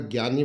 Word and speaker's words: ज्ञ: अगर ज्ञानी वाला ज्ञ, अगर ज्ञान वाला ज्ञान ज्ञ की बात करें तो जय और य से इसका उच्चारण होता है, जय और य से। कहीं कहीं कुछ किताबों में, कुछ सूत्रों में, मतलब कुछ सूत्रों के आधार पर दिखाएं तो ग और य से भी इसका उच्चारण या इसके योग बनता